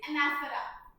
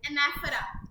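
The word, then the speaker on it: anaphora: Next is एनाफरा इसकी correct pronunciation is एनाफरा नॉट एनाफोरा और एनाफोरा एनाफरा एनाफरा क्या होता है?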